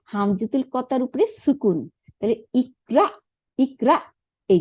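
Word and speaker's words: اقْرَأْ: আমাদের লেখা তাই না ইকরা ইকরা বানানটা খেয়াল করেন তাই না এই যে আলিফের নিচে জের এই আলিফটা কিন্তু আলিফ না আমরা বলবো হামজাতুল ওয়াসাল হামজাতুল ওয়াসাল ওয়াও সদের উপর জবর লাম মানে আমরা বাংলায় যদি লিখছি ও সি স এর আকার ল ওয়াসাল হামজাতুল ওয়াসাল হামজাতুল ওয়াসাল জের হ্যাঁ জের দিছি তাইলে ই উচ্চারণ হইছে ই তারপর কফের উপরে সুকুন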